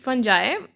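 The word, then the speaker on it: fungi: और जो हमारे पास कुछ फंगी बोलते हैं, कुछ फंजाई, इसमें प्रोनाउंसिएशन में डिफरेंस है।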